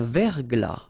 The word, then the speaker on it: verglas: Un verglas. Final S not pronounced.